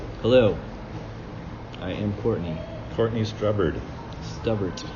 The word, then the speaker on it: Stubbert: Courtney Stubbert. Stubbert. But I like the way you said it. That was good. Because that's like Whiskey with Mark pronunciations. Strubbert. Strubbert.